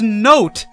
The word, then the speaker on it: note: How does note have a silent letter? Which one is silent? The E? I mean, I guess technically... because you don't say it, you don't say naughty or noti. But without the E, it says not.